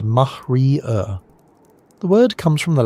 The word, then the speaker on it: maria: They're real geological features, vast ancient lava seas called Maria, pronounced mahrier.